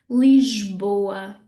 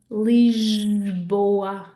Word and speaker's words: Lisboa: And then finally, we have this funny zh sound, zh. So this is a sound that you would make if you were saying the word treasure or pleasure in English, okay? So that zh sound will come in a word like Lisboa, Lisboa, okay?